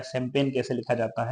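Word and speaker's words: champagne: हैं कि बताओ कैंपेन कैसे लिखा जाता है शैंपेन कैसे लिखा जाता है कलेन कलेन मीस होता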